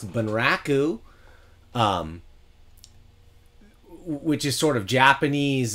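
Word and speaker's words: 文楽: in particular deals with I believe it's pronounced van Rock ooh which is sort of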